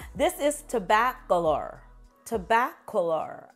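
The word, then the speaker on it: Tobacolor: is to bath Galore tobaccular I believe is how you say it another one from the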